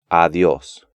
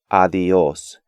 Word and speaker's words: adiós: Even advanced students tend to pronounce these words gracias, adiós, and estudiar, when they should be gracias, adiós, and estudiar.